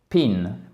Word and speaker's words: pin: par exemple vous avez la lettre I pin pin ici c'est un i court pin c'est l'épingle d'accord et